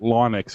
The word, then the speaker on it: Linux: say it and he said i call it linux because it's named after him so even though we actually all call it linux it is actually called linux well linux sounds